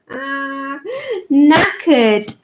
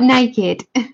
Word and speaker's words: knackered: Knackered. Knackered means tired. No, not naked.